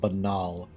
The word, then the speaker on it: banal: It's pronounced banal.